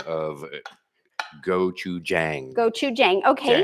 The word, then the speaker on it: gochujang: Okay, so here By the way, we have some clarification on the pronunciation of gochujang. Gochujang, okay. Jang, as in J like Joe, Jang rhymes with Tang.